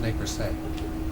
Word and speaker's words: Nez Perce: prevent future misunderstanding, it's pronounced ne per se.